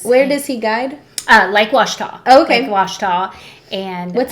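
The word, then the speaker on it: Ouachita: area, and they'll say, now how do you say the lake name? And he's like, Washita, the Washita Mountains, Lake Washita. But it doesn't have a W, so it's it's OU though.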